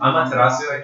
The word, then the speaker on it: Amaterasu: Is that how you pronounce it? Yeah. Amaterasu.